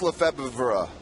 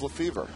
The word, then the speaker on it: Lefebvre: It really is Lefebvre. Oh, I thought it was Lefevre.